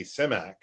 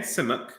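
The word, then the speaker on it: Simak: That's definitely the way you pronounce it as if you're him is similar to how it sounds in that Bulgarian transliteration.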